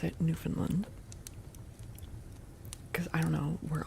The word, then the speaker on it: Newfoundland: Newfoundland. Yeah, that's how you say it. Newfoundland, not New Finland. and not Newf Finland.